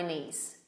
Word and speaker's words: knees: knees the knife okay these are all k n at the beginning so no k k is silent and here got me